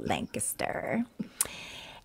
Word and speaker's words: Lancaster: Yes, I say it right now, Lancaster.